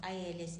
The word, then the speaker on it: ils: So when we are talking about ILS, it's still pronounced il.